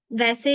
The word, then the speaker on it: は: अगर आप एक एक लेटर की तरफ से देखोगे इसको तो दिस इज हा, बट एज a topic marker हम इसको सेंटेंस के अंदर वा प्रोनाउंस करते हैं।